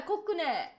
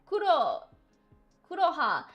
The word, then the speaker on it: Kuroha: You know, that's exactly, like, why, like, Vodka-san, like, mispronounced my name. And said, like, Koku, instead of Kuro. Yeah, Kokune, instead of Kuroha.